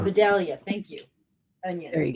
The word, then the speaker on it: Vidalia: Vidalia. Vidalia.